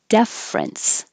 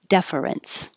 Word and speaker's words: deference: to be rinse difference which will sound the same except for the vowel sound in the first syllable deference or three syllables deference so the only difference